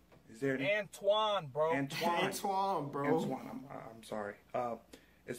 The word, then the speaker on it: Antoine: Anton. Is there any... Antoine, bro.